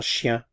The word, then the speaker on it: chien: Un chien. A cat. Un chat. Again, notice I'm not pronouncing the consonants at the end of the words here.